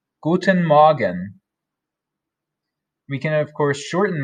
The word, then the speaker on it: Guten Morgen: rather good morning and that is pronounced guten magen guten magen we can of course